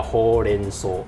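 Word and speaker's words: 報連相: 始的第一个发音叫 ho len so，对，然后日文在韩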